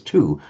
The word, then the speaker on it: two: We don't pronounce the w, we pronounce it as two.